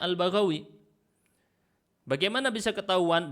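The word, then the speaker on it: البغوي: Ini bacanya Al-Baghawi. Bagaimana bisa ketahuan? Dengan teks yang disebutkan setelahnya bifathil ba'il muwahhadah wal ghain al-mu'jamah. Al-mu'jamah artinya lawan dari kata al-muhmalah.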